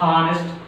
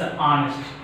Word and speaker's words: honest: It is a consonant, but its sound is not honest. It's honest. What is that? First we are pronouncing ha.